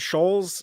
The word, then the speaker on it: Shoals: you say this word Shoals shall I always feel like I'm saying it wrong but not Schulz is right just as if it was s-h-o-l-e-s I I see it